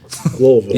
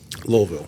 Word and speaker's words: Louisville: is uh in Louisville Louisville Louisville Louisville Louisville Louisville said you said it right lville to the locals equip Expo in October and